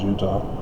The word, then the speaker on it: Judah: judah desolate without inhabitants judah is phonetically the same as utah from the original hebrew phonetics not the english corrupted european version with the j thanks spanish j becomes